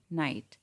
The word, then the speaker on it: knight: Next we have नाइट एंड नाइट. In the second word, K is silent, so we have the same pronunciation of both these words.